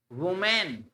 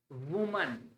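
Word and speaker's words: women: वुमेन गलत, वुमन वुमन। Village वुमन, वुमेन नहीं, ये पढ़ा जाता है वीमिन, वीमिन वीमिन। इट्स वुमन, इट्स वीमिन।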